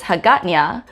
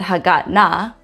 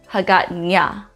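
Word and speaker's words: Hagåtña: You'd see this in the capital of Guam, which is Hagatnya. So in that case, you wouldn't pronounce it Hagatna, Hagatnya.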